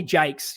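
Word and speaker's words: Jaques: I I'll touch on him it's uh Loy Jakes yes apparently that's how you pronounce his last name spelled j AQ U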